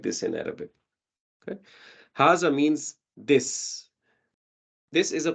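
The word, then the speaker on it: هذا: normals over here but it's pronounced haza as if there is a alif next to it it's written like this in Arabic okay haza means this this is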